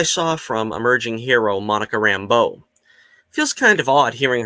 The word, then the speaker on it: Rambeau: I like what I saw from emerging hero Monica Rambeau. Feels kind of odd hearing her get called Rambo, though. I always thought it was the French pronunciation, Rambeau. Emphasis on the beau, like Remy LeBeau.